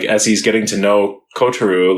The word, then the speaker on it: Kotaro: saying it right like I was calling it kotaru lives alone and then I'm like wait they're they're saying kotaru yeah yeah exactly I